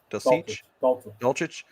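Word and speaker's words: Dulcich: The tight end Greg Delich Dolich uh absolutely had himself a really good game.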